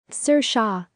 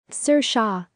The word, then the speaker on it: Saoirse: correct manner so how do we go about pronouncing this name sir shaw let's repeat sir shaw say it with me sir shaw pretty straightforward ones you know what other words